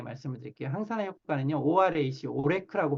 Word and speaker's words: ORAC: 항산화 효과는요, ORAC, 오레크라고 발음하는데요.